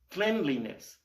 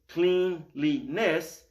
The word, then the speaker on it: cleanliness: Cleanliness. Now, do you see on the bottom of the screen? It's written cleanliness, but because we're adding the ending "-ness" to clean, it changes the pronunciation.